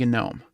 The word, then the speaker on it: GNOME: that's why it's called gnome just like gnu is pronounced gnu okay so that's why we pronounce it now if you do pronounce it with a silent g that's fine uh there's nothing wrong